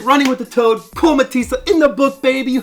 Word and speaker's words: Mathison: I told you it was Mathison. Oh. It's actually Danish origin from Okay. Denmark, and yeah, for whatever reason the H is silent, so it's just Mathison.